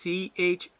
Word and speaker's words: Chincoteague: Now the way it's pronounced, folks, it's a CHINCOTEAGUE. Once again, it's CHINCOTEAGUE.